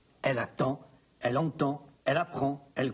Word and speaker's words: attend: Mais le D ne se prononce pas. Elle attend, elle entend, elle apprend, elle comprend.